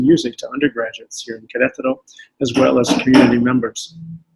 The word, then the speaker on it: Querétaro: Querétaro is spelled capital Q-U-E-R, E with an accent, T-A-R-O. Querétaro.